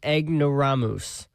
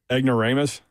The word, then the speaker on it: ignoramus: You're just playing eggnoramus. Cracker barrel old country store. That is not how you pronounce that. Uh, Ignoramus.